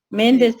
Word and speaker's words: Méndez: Méndez también. Méndez también en la primera E.